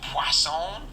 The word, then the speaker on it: Poisson: Poisson. There's no W in it, but I was told that that's how you say it. I guess it's French.